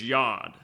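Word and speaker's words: יוד: I actually know that the first letter is yond yond which is spelled y ou D which reminds rhymes with gone and I can't think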